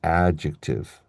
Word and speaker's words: adjective: Um, for example, with this word here, adjective. Adjective, right? because the stress is on the first syllable.